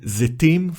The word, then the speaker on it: Zetim: The first syllable is Ze, created by Tzere Male, and the last syllable is Tim, created by the letter Tav, decorated with Chirik Male. The syllable ends with the letter Mem Sofit.